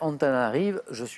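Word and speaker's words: Antananarivo: Ayant pour capitale Antananarive, il y a un O à la fin, mais normalement on ne prononce pas, je suis Madagascar.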